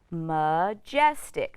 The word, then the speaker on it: majestic: So this vowel A, instead of saying A or A, is going to say It's an unstressed syllable. So let's try again. M, j, s, jess, t, ick, tick. Majestic, majestic.